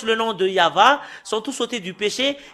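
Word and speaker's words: יהוה: C'est le livre de Torah qui stipule bien que c'est Yahva qu'on le prononce, et c'est avec cela qu'on le prononce au ciel des cieux, Yahva.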